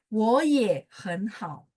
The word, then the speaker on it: 我也很好: Jadi ketika nada tiga ketemu nada tiga, maka depannya berubah jadi bacanya nada dua.